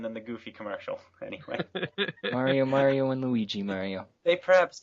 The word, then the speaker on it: Mario: For example, if you go to a convention dressed like Super Mario, it is loads of fun if you meet people there who are dressed like other Mario characters.